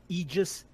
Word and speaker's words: Aegis: No, there's a correct pronunciation. It's fucking Aegis, and it's fucking Idris. I'm saying Agos until Idris. You can just be mad at me. I'm saying Agos from now on. Agos.